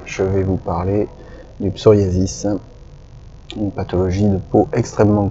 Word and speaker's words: psoriasis: Et on dit bien psoriasis alors que le grec vient de psora, ce qui fait que bien souvent les gens ont du mal à prononcer ce mot et j'entends de nombreuses interprétations, psorasie, psorésie, etc.